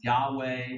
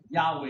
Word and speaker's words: Yahweh: even write the vowels they just gave us the consonant but it might be pronounced Yahweh or yahu we're not sure but Yahweh is the traditional um way that it's um usually given which becomes the